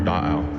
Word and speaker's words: Da'ao: our creation story for Da'ao, for Lake Tahoe. So Lake Tahoe itself, the word Tahoe, is a mispronunciation of our word Da'ao, which also means lake.